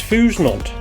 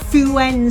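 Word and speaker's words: Fouesnant: our destination, which is Fusnant. I think you actually mean Fuen, Steve, just because it says Fusnant on the sign. I don't think the French pronounce it like that.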